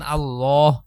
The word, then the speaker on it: আল্লাহ: অথবা পেশ থাকে তখন আল্লাহ এভাবে উচ্চারণ হয়। মানে ল উচ্চারণ হয়। লা আল্লাহ শব্দকে পুর করে পড়তে হয়। পুর মানে হচ্ছে মোটা করে পড়া।